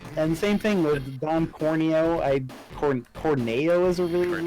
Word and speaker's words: Corneo: Just oh, he, talking meat said Corneo. oh, he said Corneo, not Cornea. I think I always pronounced it Corneo though.